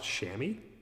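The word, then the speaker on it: chamois: It's It's just pronounced shammy.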